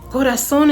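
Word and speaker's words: corazón: The next song I wrote was Goras. That one was harder because I know that goras is not the correct pronunciation. But the reason why is because I'm not talking about an actual heart. Gorason is also a term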